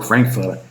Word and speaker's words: Frankfurter: You're a Frankfurter or Frankfurter. They don't pronounce it ER. They don't pronounce They pronounce it A. So Frankfurter, Hamburger, Pauliner, Münchener.